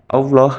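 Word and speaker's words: الله: yaitu tafhim dan tarqi tafhim terjadi apabila lafaz Allah didahului harakat fathah atau damah contohnya pada surat ala'raf ayat 28 di dalam ayat tersebut berbunyi lafaz wallahu di situ ada lafaz Allah didahului harakat fathah cara membacanya lafaz Allah dibaca tebal selanjutnya tarqi terjadi apabila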